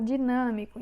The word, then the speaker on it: dinâmico: Temos a palavra dinâmico. Então, vamos separar dinâmico. Dinâmico. Prestem atenção que tem 4 sílabas. Dinâmico. Olha, aqui temos já uma diferença. Dinâmico. A sílaba tônica é o nã, então é proparoxítona, porque temos aqui o